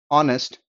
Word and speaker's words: honest: have told you, are, honest, honor, vehicle, vehement, in all these words H is silent.